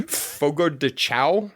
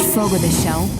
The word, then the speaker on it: Fogo de Chão: Fogo de Chão? Is that how you pronounce it? Not if you have any familiarity with Portuguese, but... Okay. At Fogo de Chão, it all starts with fire.